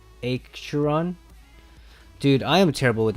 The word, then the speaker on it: Acheron: And even though the English speaking close to it, it's Acheron, but the actual pronunciation in Greek I think is Acheron.